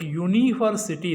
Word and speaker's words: university: be careful here, because the initial letter is a vowel, that is u, but the sound is that of a consonant, because when we pronounce this word, we pronounce it like university, that is y sound is there.